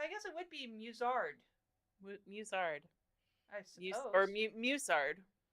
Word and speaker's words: musard: then is it pronounced musard? Because I really want to pronounce it like mustard without the T.